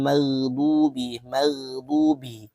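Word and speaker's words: مَغْضُوبِ: Ghairil maghdubi. Huruf ghin ya itu tidak termasuk huruf qalqalah. Jadi bacanya jangan salah nanti. Bacanya harus lebih halus. Mag mag mag jangan mage ada nya itu salah ya.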